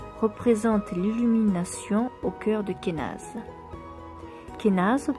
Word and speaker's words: Kenaz: l'illumination au cœur de Kenaz. Kenaz, prononcé Kenoz, bon, si vous le lisez comme moi, voilà. Kenaz, prononcé Kenoz plutôt donc, symbolise, mais moi